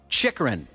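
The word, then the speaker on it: Chychrun: Chikrin is how you pronounce that player's Oh, last that name.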